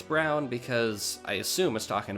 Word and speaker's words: Brun: so anyway route 15 I'm gonna mispronounce this bull hon white run brune it's it's brown it's it's brown I mean I listened to the google translate a computer voice say it and it was just